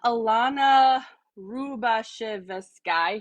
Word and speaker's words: Ilona Rubashevsky: So first of all, ALANA RU-BA-SH-EV-SKY, she told me how to say it.